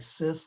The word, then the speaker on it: cis: is we use a prefix CIS which has a soft C it looks like CIS like in sister and then I remember